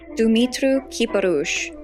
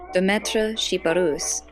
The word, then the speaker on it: Demetre Chiparus: without tassels or cutouts dumit karush the Romanian pronunciation of his name or Dietra chiparus which is the French pronunciation was born in 1886